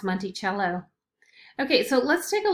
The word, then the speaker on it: Monticello: back of the nickel this looks like monticello doesn't it but really it's pronounced monty cello okay so let's take